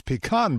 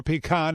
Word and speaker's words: pecan: Trying to agree on a pronunciation for pecan, as we say in the Northeast, or pecan, as some say, can make you nutty.